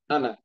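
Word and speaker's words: أنا: কেমন যেন এরকম আছে আনা কোন টান নাই এটা এরকমই উচ্চারণ হবে ঠিক আছে আনা মানে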